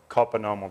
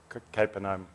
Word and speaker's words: Capernaum: pronunciation is okay is in the village of copper normal the city of capernaum however you want to say it capernaum and he's just healing